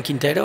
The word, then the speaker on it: Quintero: go ahead morning and my name is Quintero I'm from Bogota I know speak English please for my pronunciation sorry I read for the little pest